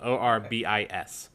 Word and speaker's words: Orbis: Orbis. Right. I have a notes document open for this one shot. I'm liking this. It's like orbits, but you know, without the T.